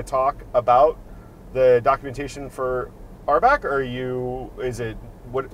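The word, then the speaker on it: RBAC: heard it out loud our back is how you pronounce the acronym for role-based Access Control um and uh it's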